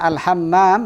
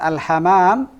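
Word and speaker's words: الحمّام: Nah, karena al-hammam dengan al-hamam nanti beda makna. Al-hamam tanpa mim yang ditasdid apa?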